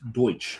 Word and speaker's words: Deutsch: It's just we bits pronounced Deutsch.